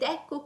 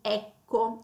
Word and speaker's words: ecco: proprio a ecco e poi l'accento cadrà sulla e iniziale di ecco, ok?